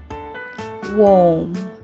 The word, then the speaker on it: warm: Warm, warm. Worm, worm. Warm, worm. Okay? Okay, even though it's short, but it serves as a good audio-visual aid to teach these two words, the difference of pronunciation